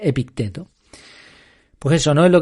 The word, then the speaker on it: Epicteto: No sé por qué le doy el acento en Epicteto, parece que suena un poco más griego, ¿no? O algo así. Pero bueno, creo que debe pronunciarse Epicteto.